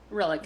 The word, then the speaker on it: Rillick: mirror Rylick said, or Rillick, or how do you pronounce it again, Aaron? Rylick I or say Rillick? Rillick. Rillick.